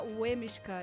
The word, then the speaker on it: Leminski: E efetivamente se escreve Lemiska, mas em polonês se pronuncia Wemishka.